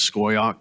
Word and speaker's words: Scoyoc: It is Scoyoc, but for the purpose of this discussion, I'll just call them VSA because it's a little bit easier to get into.